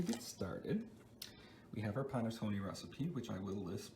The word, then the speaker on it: panettone: make panettone bread now there are many different ways you can pronounce ponatoni it's ponotone panatone but in my family it's always been panettone now let's get right